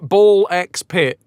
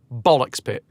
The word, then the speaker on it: Ball x Pit: I mean some people might call it ball x pit but that's not how it's pronounced. It's definitely pronounced bollocks pit.